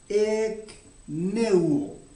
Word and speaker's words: ekneuo: La palabra aquí, se había apartado de la gente que estaba en aquel lugar, es la palabra ekneuo. Se escribe E-K-N-E-U-O.